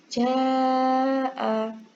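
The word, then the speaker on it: جاء: Contohnya ja'a. Nah, yang ini ada tandanya yang di atas ini. Berarti ini dibaca panjang ya.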